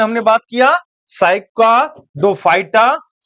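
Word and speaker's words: Cycadophyta: साइका डोफाइटा तोड़ के नाम पढ़ने का प्रयास कीजिएगा। अगर एक बार में नाम प्रोनाउंस ना हो पाए इसको तोड़ के पढ़ने का प्रयास कीजिएगा। मैं आपको बता देता हूं इसको तोड़िएगा कैसे? याद रखिएगा साइका डोफाइटा। ठीक है? जब इस तरह से पढ़िएगा साइका डोफाइटा। अब इसी को जोड़ दीजिएगा साइकाडोफाइटा है ना?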